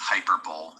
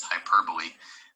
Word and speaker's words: hyperbole: peace okay hyperbole not to be confused with hyperbole the correct pronunciation is hyperbole it's basically exaggeration it's an exaggerated statement used